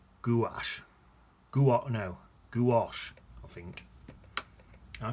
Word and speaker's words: gouache: Apparently it's pronounced gouache. Gouache, I think. I call it that. To me, that looks like, that's it. Looks like it says gouge.